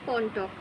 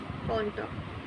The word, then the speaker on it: কণ্টক: যেমন ধরো কণ্টক, কণ্টক, এখানে দেখো ন রূপে উচ্চারিত হচ্ছে, ন রূপে উচ্চারিত হচ্ছে, অথচ কিন্তু এটা মূর্ধন্য, কিন্তু এটা দন্তন্য রূপে উচ্চারিত হচ্ছে।